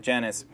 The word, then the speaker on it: Janice: So what we do, Janice, is, I think the name is pronounced not Janice, but Janice, is we print them out and we see a lot of the layouts.